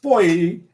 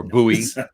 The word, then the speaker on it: Buoy: It's pronounced boy. Yeah. Or buoy, if you will.